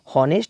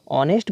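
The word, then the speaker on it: honest: उच्चारण हो रहा है, इसको देखिए हॉनेस्ट नहीं पढ़ते हैं, क्या पढ़ते हैं, इसको ऑनेस्ट पढ़ते हैं।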